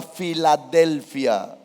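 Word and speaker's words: φιλαδελφία: Esa palabra es una palabra griega que se pronuncia Filadelfia.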